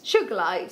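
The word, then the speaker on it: Sugilite: before i don't think suge light sugar light so it hasn't got a soft g like our good boy ben said have you seen sugar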